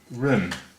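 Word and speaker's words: 人: Run is second tone, that's a rising tone, as seen by the line on top there. And if you go to spell it phonetically, well no, not phonetically, but R-E-N usually has a U sound mixed in with it.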